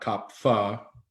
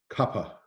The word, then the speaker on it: kapha: copper you know not kopfa because we see pha as pha but actually in sanskrit it's pa kappa aspirated anyway to get back